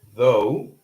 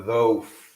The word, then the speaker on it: though: So we could have the or though or though or the. What do you guys think? Obviously, it's not the or though. It's though. All right. So in this case, the digraph is silent.